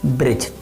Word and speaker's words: bridge: जैसे कि हम बोलते हैं ना, ब्रिज। Okay, BRIDGE, ब्रिज। तो ब्रिज में डी साइलेंट है।